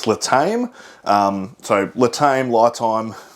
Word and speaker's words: LiTime: So, I would pronounce this as li time. Lie being the short for lithium. Um, they did send me a pronunciation thing. It says Latame.